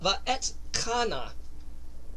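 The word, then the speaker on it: Va'etchanan: This is installment number 45, and it's called Va'et Kana. Kind of difficult to pronounce. It's almost like you're coughing up something, but it means, and I besought, or I pleaded.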